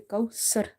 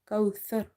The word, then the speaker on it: كوثر: Second mistake people making in this word kauthar. They say kausar, sar. So you have to avoid the seen pronunciation. You have to read it tha, kauthar.